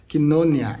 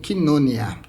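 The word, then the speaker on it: κοινωνία: Koinonia é a pronúncia para o termo que a gente conhece como koinonia, né?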